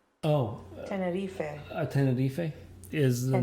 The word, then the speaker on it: Tenerife: and it's from the pronunciation is Tenerife. You say it like that, Spanish. Oh, Tenerife.